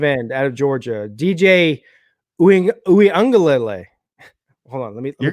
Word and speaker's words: Uiagalelei: That's how I know it's correct, because he said himself it was Uiagalelei.